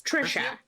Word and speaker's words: Trisha: It's Trisha. It's Oh, Trisha. Trisha. Yeah, like Patricia.